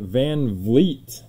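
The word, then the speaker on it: VanVleet: poco bass rookie silver jared allen and fred van vliet there we go ruby wave first time ever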